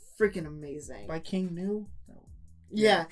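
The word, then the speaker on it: King Gnu: it's freaking amazing by King new yeah or as he pronounced King new cuz the spelling of the band is like weird yeah but I was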